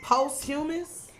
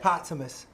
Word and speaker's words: posthumous: Posthumous? Spell it. Posthumous.